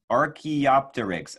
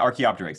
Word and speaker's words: Archaeopteryx: Mackenzie and Denali Reeves says, say Archaeopteryx. Oh, thank you. Helping me pronounce these dinosaur names.